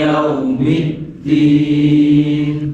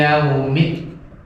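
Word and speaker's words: الدين: Middin itu pakai huruf dal. Lah huruf dal itu dia mempunyai sifat jahar. Ininya getar. Nah ada jangan dibaca tak. Mereka makhrajnya sama, cuma sifatnya beda. Kadang orang bacanya pakai tak begini. Maliki yaumid. Itu tak. Maliki yaumid. Itu tak. Benar depannya tak terus dalnya benar. Yang benar adalah dal semua.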